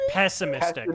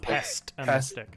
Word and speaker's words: pessimistic: It's pessimistic, not pestimistic. It's pes pessimistic.